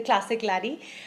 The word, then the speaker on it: Bruichladdich: lot of fun so now that we know how to pronounce this the classic lady i have young duplama